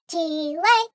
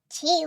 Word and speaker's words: Chile: Next week we're headed to Chile! Chile! Squawk like a blue jay 'cause we're headed to Chile! Squawk! Chile, Chile. What rhymes with Chile? Oh, beret, like those flat French hats.